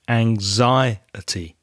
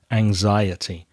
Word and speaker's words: anxiety: with the pronunciation of anxiety Alba anxiety has four syllables and you need to stress the second syllable anxiety anxiety so people suffer from